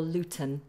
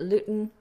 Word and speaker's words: Luton: is London Luton or Luton so you can either glottal eyes it Luton or pronounce it with a strong plosive Luton Luton now you can